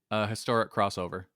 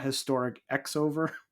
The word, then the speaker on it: Historic X-Over: Not historic X-over. You'll see a lot, like, in Japanese stuff, with either the X is just not pronounced at all, or the X is cross.